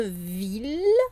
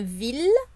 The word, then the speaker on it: ville: des petites exceptions et par exemple pour une ville là on aura beau à voir i2 l e ça va bien se prononcer il le une ville 1000e donc une fille la famille ça c'est